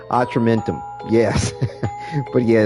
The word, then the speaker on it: Atramentum: I think it's a short A. Atramentum.